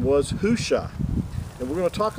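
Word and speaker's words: Hoshea: numbers chapter 13 that joshua's original name was hushah and that's the way it was pronounced not yushua it was hushah and moses changed his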